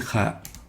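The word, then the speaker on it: خاء: Kha, not Ka.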